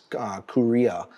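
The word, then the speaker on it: Kureha: Seaguar is, you know, I think the pronunciation of their parent company is Korea, which is the manufacturer of the crystals themselves.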